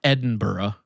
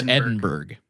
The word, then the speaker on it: Edinburgh: The first thing that comes to mind is how in Scotland, it's the city of Edinburgh. Yeah. But here in Indiana, it's Edinburgh.